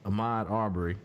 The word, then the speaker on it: Ahmaud Arbery: young man name is I believe we're agreed Ahmad our burry so we were trying to find the correct pronunciation to say his name out of respect